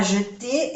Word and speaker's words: jeter: Los verbos que terminan en ER se pronuncia E.